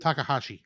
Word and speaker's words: Takahashi: passing boat uh Tash tooshi what do you pronounce it Takahashi Takahashi Takahashi uh was was basically announced uh